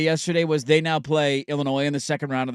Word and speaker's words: Illinois: was they now play Illinois in the second round of the tournament. And somebody tweeted out that this game is for the loser has to pronounce the S.